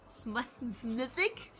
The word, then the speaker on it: Smethwick: Why is there a fucking S? What is going on? Smethwick? Smethwick? Smethwick. It's just Smethwick. No, it's not. You're missing letters.